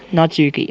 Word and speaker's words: Natsuki: and not not turkey not Knox not Spee Natsuki I'll just call the nuts Natsuki that's really hard to pronounce made cupcakes and everything he don't make